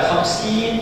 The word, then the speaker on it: khamsin: Bacanya pendek ya. Ingat, pendek bacanya. Bukan khamsin tapi khamsin.